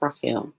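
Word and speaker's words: רחל: And so putting that all together, we would have the R sound, we have that het sound, and we have that L sound. So we would have reading along, we would have R, A sound, He, S sound, L. So it comes out Rachel. So it sounds like Rachel.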